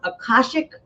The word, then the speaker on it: Akashic: And I wanted to ask you this last thing about, is it pronounced Akashic Records?